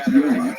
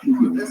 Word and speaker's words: Gjoa: Quickly, the name Gjoa is spelled G-J-O-A. I just wanted you to know that so you aren't confused when you look at the spelling. You see, it doesn't necessarily look exactly like you would expect.